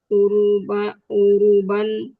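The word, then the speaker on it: أوروبا: Wa qad hamalu ma'ahumul hadaratal arabiyata lil islamiyata ilal ba'dil muduni wad duwali fi uruban u- u- uru apa sih bacanya Eropa ini Ustaz? Eropa betul. Uruba. Uruba. Urub urubah misli in intoli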